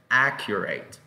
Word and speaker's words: accurate: Y la pronunciación es accurate.